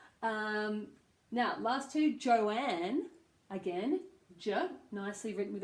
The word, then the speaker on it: Joanne: a joke for once but Joanne has an old sound in it and some people Joanne will call themselves to joy so o has a diphthong Joe and and